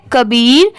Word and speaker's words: Kabir: अब जैसे यहाँ पर देखिए KA क्या हो जाएगा? क। यहाँ पर इसकी प्रोनाउंसिएशन का नहीं होगी क्योंकि का को हम लोग इंग्लिश में क्या लिखते हैं? KAA। KA को क्या पढ़ेंगे? क। और BIR को क्या पढ़ेंगे? बीर।